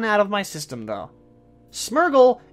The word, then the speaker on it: Smeargle: of my system though smeargle is smear and beagle so the people who call it's myrtle well you're wrong like I once was I